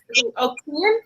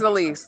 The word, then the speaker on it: Elise: And so I'm sorry, what is her name? Kian? Is that how you say it? Kian? Me? Elise? Oh, Elise. Okay. Remember, on your screen it says Keen. Yeah, I know. No, my name's Elise.